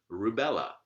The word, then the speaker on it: rubella: clearly a light syllable rubella ii last syllable here is bet and again clearly a light syllable well this is written